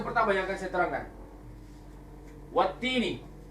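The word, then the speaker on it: والتين: Wattini. Ni. Wattini. Wattini. Wattini wazzaitun. Wattini. Wattini. Ini yang benar bacanya. Yang ini yang betul.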